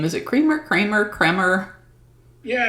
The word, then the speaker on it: Kremer: name is it creamer kramer cremer yeah it's just like the old movie kramer vs creamer so it's spelled with an e but pronounces like an a and i have pronounced